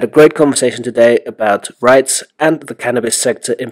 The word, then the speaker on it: REIT: We had a great conversation today about REITs and the cannabis sector in particular.